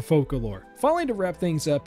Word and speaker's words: Focalors: Honestly, her name's pronunciation is somewhat confusing, as it seems that the English pronunciation could be using the French dialect where it is Focalor, or we could use the traditional Latin pronunciation being Focalor. Oh, and the word foca is also Latin for seal. which is adorable, so I'm going for Focalore.